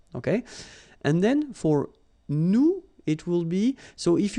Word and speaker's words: nous: if you remember correctly, so final S is not pronounced here. Okay, and then this ON, so it's a nasal and it goes in your nose and it goes like on. All right, so you don't hear any N, so it's really on.